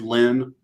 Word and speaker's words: Lyne: no, I think Um, that would still be Lynn because, like, Ly isn't a woman's name Lynne Lynn or yes. Also, Lyne. That's still pronounced Lynn.